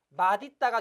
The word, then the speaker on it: 맛있다: 맛있다가 돼야 합니다. 이 단어의 발음은 맛있다가 맞습니다.